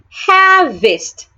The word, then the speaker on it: harvest: Harvest. Take note that the A and the R in that word make a long sound.